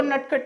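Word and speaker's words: naughty: दे class में, वो नटखट नहीं। नट्टी का मतलब यहाँ नॉटी, नट्टी नहीं बोल रहा हूं, नॉटी, प्रोनाउंसिएशन पे ध्यान दीजिएगा।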